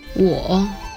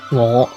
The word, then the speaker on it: 我: In Mandarin, it's pronounced 我 with the third tone, or falling rising tone, while in Cantonese it's pronounced 我 with the fifth tone, or low rising tone.